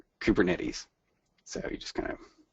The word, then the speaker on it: Kubernetes: like ketes uh but this is a software project from the west coast of the United States and so we say kubernetes so you just kind